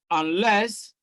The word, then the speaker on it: unless: C, stress is also on the second syllable, and less. Because one of the rules of stress is that the prefix is usually not stressed, especially in a bisyllabic word.